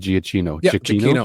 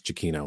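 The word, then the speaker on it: Giacchino: was is it jakino I said ginoo I I remember saying uh was how did I pronounce the name first Gino jino Gino Gino anyway I gave him a tape on my radio show once and he says no it's Chino and I never forgot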